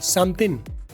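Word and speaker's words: something: बताया समथिंग is fishy समथिन समथिन इज समथिन इज अब जी silent कर दिया इसको मिला दिया ये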